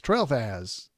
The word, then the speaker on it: Tralfaz: Now, the material for that episode came from a website that is called, it's Tralfaz. And I didn't know how to say it, but it's Trailfaz. Trailfaz is what it's called.